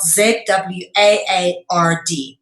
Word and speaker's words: zwaard: In English, a sword is obviously spelled S-W-O-R-D, but in Dutch, it's spelled Z-W-A-A-R-D, okay? And it said zwaard, okay?